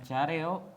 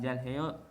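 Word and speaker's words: 잘해요: Jadi dibacanya careo bukan jalheo. Emang meskipun kita bisa baca jalheo, namun lebih enaknya careo kalau mau baca cepat.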